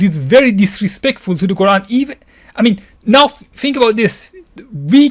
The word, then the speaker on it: Quran: We claim to believe that the Quran, however you want to pronounce it, I prefer to pronounce it as Quran because that is the dialect of the people of Yemen, and the Prophet praised the people of Yemen many times.